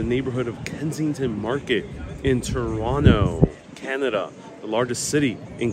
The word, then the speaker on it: Toronto: of Kensington Market in Toronto Canada the largest city in Canada now Canadians pronounce the second T silent it's silent uh so it's not Toronto for the Canadians is Toronto and today we're going